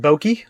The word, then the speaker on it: Boki: You pronounce that Boki.